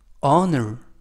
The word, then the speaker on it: honor: 이번 표현은 honor 이라고 발음하시면 되겠고요. 이때 유의하실 것은 맨 앞에 있는 알파벳 H가 묵음이라서 발음이 되지 않습니다. 그래서 honor 이라고 발음하시면 되겠고요.